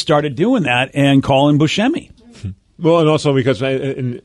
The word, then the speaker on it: Buscemi: you know technically there's he's not even pronouncing it the proper way i guess i introduced you as who's because of my extensive research i learned that that's how you pronounce your last name that's true even though everyone else in the entire world pronounces it buscemi yeah don't know why what do you want it to be well i can't i can't say buchami because i didn't grow up that way right have you